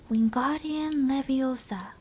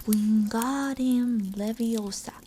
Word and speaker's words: Wingardium Leviosa: having much more luck Wingardium Leviosa he shouted waving his long arms like a windmill you're saying it wrong I referred Himani snap its Wingardium Leviosa make the god nice and long you do it then